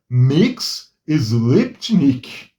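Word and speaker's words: Mxyzptlk: Mix Sliptnik. Para quem não sabe, é assim que se pronuncia o nome desse duendezinho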